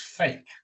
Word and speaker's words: PHEIC: emergency of international concern pheic perhaps unfortunately occasionally pronounced as fake so are you going